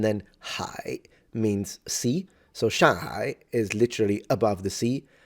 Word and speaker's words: Shanghai: Like he said, like, do not pronounce the G because it's used to nasalize the N. So you say shang, which means above, and then hai means sea. So Shanghai is literally above the sea.